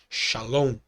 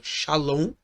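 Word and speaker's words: שָׁלוֹם: exemplo familiar pode ser a palavra Shalom as duas vogais nessa palavra eram pronunciadas como a mas a segunda era longa como árabe Salan na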